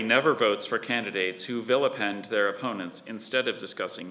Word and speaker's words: vilipend: Kelly never votes for candidates who villipend their opponents instead of discussing the issues.